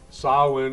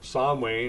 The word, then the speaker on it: Samhain: Bill Moore back with History for My Grandchildren, and we're morphing Samhain, or Samhain, if you'll permit my pronunciation of it, into Halloween.